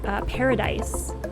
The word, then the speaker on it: Parad-Ace: hyphen ace a-c-e so he often refers to it in the conversation as ace but it is paradise paradise and um he explains